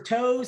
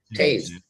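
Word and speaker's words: Toews: Is it Taze or Toes? How do you say it, man? Taze. So we are going to go with Taze.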